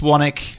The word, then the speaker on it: Swanwick: I said that's true Swanwick correct pronunciation is Swannack it's spelled swollen awake because they've heard it so